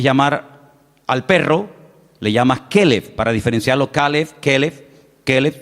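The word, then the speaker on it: כלב: Y si quieres llamar al perro, le llamas keleev para diferenciarlo.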